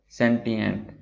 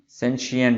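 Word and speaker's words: sentient: Synonyms हैं cognisant, mindful और सेंटिएंट। अच्छा, ये सेंटिएंट भी हम उसको पढ़ सकते हैं और इसका प्रोनाउंसिएशन सेंशिएंट भी है, और ये ब्रिटिश प्रोनाउंसिएशन है।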